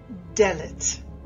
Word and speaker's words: Dalet: The last pronunciation that we want to show you for this 3-letter combination is Dalet.